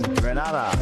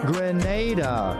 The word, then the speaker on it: Grenada: are in Grenada but I heard in English it's called Greneda. Say it right. Grenada. Say it right. Grenada. That's right. Grenada. There we go. Say it right. It's Grenada. It's not Grenada. It's Grenada.